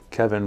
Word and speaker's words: Kevin: Kevin rhymes with heaven.